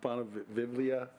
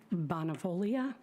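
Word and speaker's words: Bonavoglia: Now I hear from Bonavivlia. I'm sorry, I cannot say your last name. I apologize. I know the G is silent, but I'm sorry. My name is Bonavolia.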